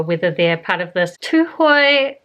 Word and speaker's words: Tūhoe: they're part of this Tuhoi, my Maori pronunciation is terrible. It's Tuhoi, oh, I just looked it up before I suck. Tuhoi tribe.